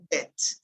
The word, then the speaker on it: debt: Here, be careful with the pronunciation of this word. In this, debt. Here you don't pronounce the B, you pronounce debt, okay?